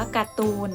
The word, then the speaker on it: การ์ตูน: เลย ค่ะ คำ ว่า การ์ตูน นะ คะ ทาน ฑะฆาต ไป ปรากฏ บน เรือ เพราะ ฉะนั้น เรา ไม่ ต้อง อ่าน ออก เสียง รอ เรือ นะ คะ นัก เรียน